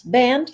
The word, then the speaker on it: Band: But it's band like rubber band.